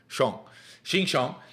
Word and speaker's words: Xinjiang: It's pronounced Xinjiang.